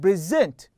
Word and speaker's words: present: But if I emphasize or stress on the last one, okay, like present, okay, reject. So here I'm emphasizing or focusing on the last syllable, which is give us the verb, okay, as or function as a verb.